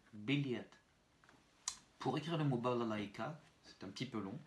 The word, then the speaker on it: балалайка: I kratkaye, K, A, avec une accentuation sur le A qui précède le I kratkaye. Donc le premier A, le second A et le dernier A vont se prononcer très réduit. Balalaïka, balalaïka, балалайка.